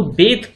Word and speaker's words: bathe: Next देखते हैं, नाउ बेथ जो वर्ड यूज होता है, देखो प्रोनाउंसिएशन भी क्लियर होनी चाहिए, इसको बेथ पढ़ते हैं, ठीक है।